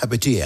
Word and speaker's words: Hipatia: Además, tu participación en la misión, ¿cómo se dice? Hati o hipatia. Hipatia. Hipatia.